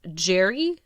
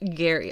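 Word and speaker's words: Gerry: Apparently it is pronounced Jerry, not Gary.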